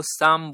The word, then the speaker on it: psalm: या तो आप इसको साम बोलते हो, SA, इसमें ये जो है P साइलेंट होता है, और PSALM ये इसकी स्पेलिंग होती है। तो इसमें हम P को नहीं पढ़ते हैं और L को भी नहीं पढ़ते हैं, सिर्फ पढ़ते हैं SAM को, यानी साम।